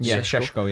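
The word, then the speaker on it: Šeško: Kuna and Bulmo and Seshko. Is that how you say it? Shesko. Yeah, they're three better players than you had.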